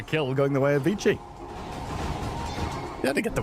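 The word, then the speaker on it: Vici: Vichi is another one of those words that like we've mispronounced for so long that it's just become accepted pronunciation cuz it vi gaming comes from veny vidy viki v is vicki vicki gaming it's vicky gaming if we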